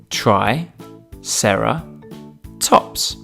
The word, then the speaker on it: Triceratops: who do we have with us today Triceratops try Sara tops can you say it with me try Sara tops let's learn all about Triceratops Triceratops was found